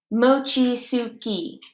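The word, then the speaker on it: mochitsuki: it mostly stays sunny we're getting ready for Mochizuki mochi Sookie I pronounced it slowly-slowly for her because she was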